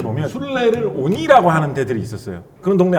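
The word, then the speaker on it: 鬼: 일본에서는 그거를 그 귀라는 한자를 쓰고 그걸 오니라고 읽거든요. 오니.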